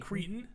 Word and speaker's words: Creighton: And then we got Tennessee and I always say it wrong, but it's oh come on, Creighton.